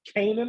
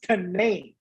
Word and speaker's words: Canaan: I thought it was pronounced Canaan, like in the Bible, but it was actually pronounced Canaan.